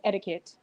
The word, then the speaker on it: etiquette: etiquette she said adequate it's not adequate it's etiquette one two you don't